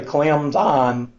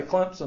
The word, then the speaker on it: Clemson: People that are local say Clemson. They put the P in there.